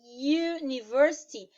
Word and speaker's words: university: Porque no caso aí, a palavrinha university, ela vai ter o som, o U tem som de Y, que é uma consoante.